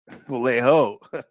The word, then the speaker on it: Vallejo: Well, we know J is pronounced Y in Spanish, right? Juan, you know, so it would be Valley Yo. And we know the Yo. Oh, actually, it's H. It's a ho. It's ho. Vallejo. Right, like Jose.